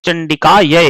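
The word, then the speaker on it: चण्डिकायै: पढ़ेंगे ओम नमः चंडिका इसमें नमस चंडिका य इसम य की जो दो मात्रा है उसको ध्यान से उच्चारण करेंगे ओम नमस चंडिका मारकंडे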